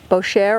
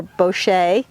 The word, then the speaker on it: Boucher: Juniper goes in the Boucher or Boucher, and it's spelled Boucher.